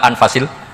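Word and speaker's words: أنفس: bacaan Saya di sini ditulis anfusil kutub saya baca anfasil kutub karena maknanya kitab ter baik Kalau kitab terbaik bacanya bukan anfus tapi apa anfas ya nanti kamu debat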